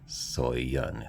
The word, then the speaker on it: Soyeon: That's Soyeon, Soyeon. It's 2 syllables.